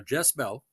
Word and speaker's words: Jess-Belle: 4 a young woman whose name sounds like Jezebel pronounced fast is spurned by the